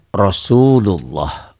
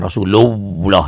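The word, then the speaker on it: رسول الله: Kemudian lafaz Allahnya seakan-akan ini ada W, tapi W-nya jangan nempel, jangan Rasulullah, jangan. Sekedar lewat aja. Rasulullah.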